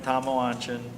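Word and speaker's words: Tamoanchan: C1 hidden Shrine of tomalanchin that's how it should have been pronounced but the ends missing in the title so it's commotion funny how these things drop out right right and uh I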